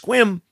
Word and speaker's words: Sequim: casino in Sequim Washington which isn't per night it's pronounced quim but it's spelled sequin I don't know why they do that on the 21st I'll